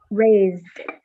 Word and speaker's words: raised: And the S is pronounced like a Z.